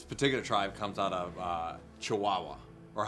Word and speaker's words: Chihuahua: This particular tribe comes out of Chihuahua, or how they say it in Mexico, Chihuahua.